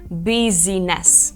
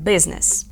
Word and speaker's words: business: і Machine ще є слово Business і тут взагалі Silent і ми не кажемо Business Ми кажемо Business літера J вона в